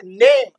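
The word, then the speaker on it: name: यह यहां इ साइलेंट है। देखिए ये मैं के एम के बाद कुछ आया क्या? इ का कुछ नहीं आया। लेकिन ये इको बोलेगा कि तू अपनी बड़ी वाली साउंड निकाल ले।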